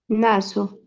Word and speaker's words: naso: ¿Y qué pasa cuando tenemos una S, solo una S en medio de dos vocales? ¿Qué pasa aquí? ¿Cómo se lee? Una Z, ¿no?